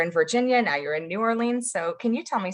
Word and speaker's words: New Orleans: march of 2020 and of course they don't say new orleans they say nollens i think so i